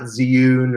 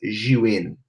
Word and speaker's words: Zhiyun: tech she win human it's not Zune or June it's you in you in tech so that's how you